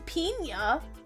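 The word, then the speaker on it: piña: That's pina. Who is pina? No, there's a nyet over the end.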